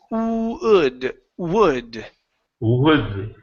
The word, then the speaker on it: would: now with would okay instead of saying H it's would w w uhuh so definitely would